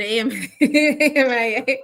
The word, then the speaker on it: AMIA: They pronounce it AMIA, where she contributes thought leadership in health IT and beyond.